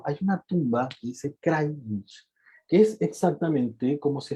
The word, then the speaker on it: Krajnik: Nosotros descendemos italianos, ok, y nuestro apellido se pronuncia, no es Krajnik con J, o sea, se escribe con J, pero me decía, la J se pronuncia como I, Krajnik.